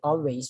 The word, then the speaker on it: always: Then the next sound is always, always. We don't say always, we say always, all short all, always, always.